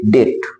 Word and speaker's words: debt: देखो बी है, बी के बाद टी है, तो जब बी के बाद टी होता है तो हमारा बी बोला नहीं जाता है, बी का उच्चारण नहीं होता है। इसको पढ़ेंगे डेट। क्या पढ़ेंगे?